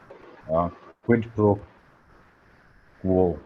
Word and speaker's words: quid pro quo: Quid pro quo. I have a hard time pronouncing this word. Right, Uh, it is quid pro quo.